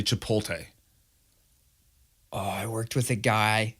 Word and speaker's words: Chipotle: with a guy who never could pronounce that correctly it is not hard he keeps saying to pull T and he just regular ass dude regular guy but always would say to pull T and it started when